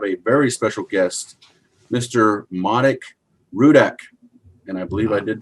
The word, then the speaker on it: Marek Rudak: today i have a very special guest mr manik rudek and i believe i did pronounce that correctly yes yes great job miguel